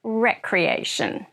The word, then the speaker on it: recreation: to use this word recreation with a short e sound Recreation is an activity